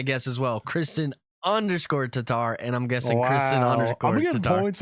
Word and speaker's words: Tatar: Tatar how did he spell it show us no he k r i how do you pronounce it t i n t a t t tarar Tatar Tatar Tatar oh dang that was cool though